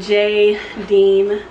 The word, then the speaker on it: Jadine: it's called but yeah it says jadine and then how to pronounce it J Dean proper noun oh yeah